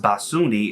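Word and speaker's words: 빠순이: bts is followed by uber and sunni pronounced basuni as a demeaning word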